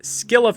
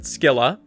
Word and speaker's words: Scylla: And just getting it out of the way, yes, I pronounce it Skila. And if you don't like that, you can take it up with Coldplay.